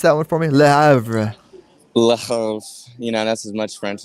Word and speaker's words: Le Havre: You want to try and pronounce that one for me? Le Havre.